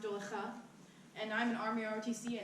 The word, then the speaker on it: Dowlatkhah: whole name thing personally my last name is just pronounced doula stuff and I'm an Army